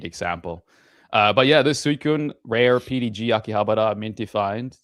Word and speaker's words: Suicune: Uh but yeah, this Suicune rare PDG Akihabara minty find these days.